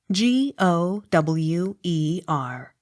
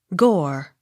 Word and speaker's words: Gower: u g h golf g o w e r gore but gower as regards the street of that name with the general public h a r c